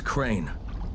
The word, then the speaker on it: Crane: no my name is crane crane crane rhymes with train and brain and shine and grain and rain and plane and the other kind